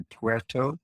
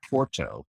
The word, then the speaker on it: Puerto: It's really Puerto as opposed to Porto.